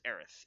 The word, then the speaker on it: Aerith: Also, Cloud is in there, and Aeris, which is interesting.